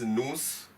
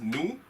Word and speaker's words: nous: you earlier as well consonants are usually silent in French so I am not reading it as nose moose I'm reading it as nous vous LLL the pronunciation is